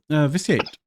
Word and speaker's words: Viciate: And Viciate, so hopefully I'm pronouncing your name correctly.